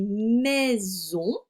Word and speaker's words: maison: Pour faire le son Z, j'avais besoin juste de mettre la lettre S parce que I et O, ce sont deux voyelles, donc le S entre deux voyelles se prononce Z.